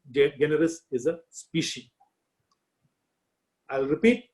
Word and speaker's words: generis: G is pronounced as in guy and not as in gent.